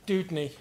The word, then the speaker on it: Doudney: if I'm pronouncing it correctly, is it Doudney? Avon, Heathcote, Estuary, Ihutai. Thank you, Leanne. Sorry, how do I pronounce your surname? Doudney.